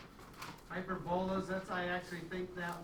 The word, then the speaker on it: hyperbola: Hyperbolas. That's I actually think that way when I spell it. Okay. Hyperbola is how it's actually pronounced, but I think of it as hyperbola, then I spell it properly.